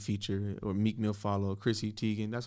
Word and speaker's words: Chrissy Teigen: me a reread feature or meek mill follow chrissy teigen that's how you pronounce her name chrissy teigen yeah okay i wanna mess that up um